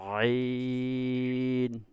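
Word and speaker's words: عين: এই এখানে কিভাবে উচ্চারণ করবেন, আপনার গলার ভিতর থেকে নিয়ে আসবেন, মানে আপনার ভিতর থেকে উচ্চারণ করার চেষ্টা করবেন। আইন, আইন, বুঝতে পারছেন? আইন। হ্যাঁ, একের ভিতর থেকে নিয়ে আসবেন, না পারলে গলার মধ্যে ধরে রাখবেন। আইন, আইন। ভিতরে উচ্চারণ করেন তো, আইন। ভিতরে আওয়াজ করেন, আপনার মুখ মুখ দিয়ে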